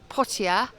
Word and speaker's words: Poitiers: So in front of us in Pia um as Mr. D tells me that's how you pronounce it is the um Notradam church which sadly is closed at the moment while they renovated it.